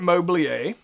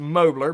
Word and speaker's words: Mobilier: situation with a credit mobilier the company credit mobley a it's pronounced mobler but it's french it's mobley a credit mobleya